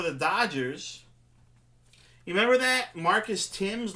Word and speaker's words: Thames: players what's his name Marcus Thames he wanted his name to be Marcus Tim's well he did pronounce